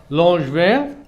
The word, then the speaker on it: Langevin: Langevin et il nous a dit que pour prononcer son nom de famille, c'est comme un ange et du vin.